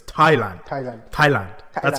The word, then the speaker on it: Thailand: it's Thailand it's not Thailand I know there's a h but it's Thailand Thailand Thailand that's how